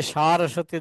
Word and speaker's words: সারস্বতে: সরস্বতী গোস্বামী বলতে শ্রীমদ ভক্তি সিদ্ধান্ত সরস্বতী গোস্বামী উচ্চারণটা হবে নমস্তে সারস্বতে সারস্বতে আকার সারস্বতে দেবে অনেকে বলে সরস্বতী দেবে